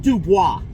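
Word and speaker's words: Dubois: forgot to mention this it's spelled du but everyone calls it do boys when you call the receiver it says thank you for calling PepsiCo of D boys but it's D if you take French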